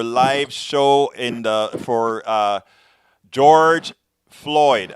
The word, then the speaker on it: Floyd: show and for George Floyd I didn't realize I was saying George Lloyd I'm so glad you corrected me Kalitta yeah so did